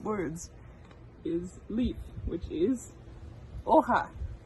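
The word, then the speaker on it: hoja: leaf which is oha so this is a very fun spanish word because we have the h and the j so the h if you remember you don't really pronounce and then the j is like an h o ha and then stem so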